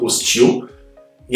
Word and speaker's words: hostile: Porque na verdade eu tenho a palavra hostile, que é um adjetivo, hostile, hostil, e a pronúncia está aqui, ó, hostile, tile.